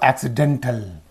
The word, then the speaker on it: accidental: syllable you say accident when it is used as an adjective you say accidental accident accidental accidentally in these two this